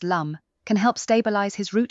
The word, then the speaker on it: lam: Lighting a yellow or brown candle and reciting the mantra lamb pronounced lum can help stabilize his root chakra.